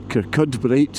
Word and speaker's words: Kirkcudbright: But uh Kubri is a nice little place. Kudbrite is how it's spelled.